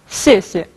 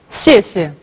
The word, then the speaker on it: 谢谢: Я знаю, что некоторым даются с трудом произношение этого слова. 谢谢. Не сложно, правда? 谢谢.